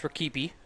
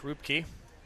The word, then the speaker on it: Rakipi: It's Rupke. It's Rakipi. It's pronounced Rupke, as he is sent to me in the...